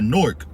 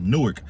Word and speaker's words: Newark: to move to uh norc and shout out to all my nor people because I used to pronounce it uh Newark they was like nah you got to say norc so I'm like you